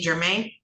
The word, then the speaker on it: Germain: All right, this is in the matter of the people of the state of Michigan versus Germain. It's pronounced Germain, right?